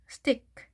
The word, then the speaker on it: stick: 자, CK는 하나만 발음을 했죠. 자, 스 하시고 tick, stick, stick 이렇게 발음을 하십니다.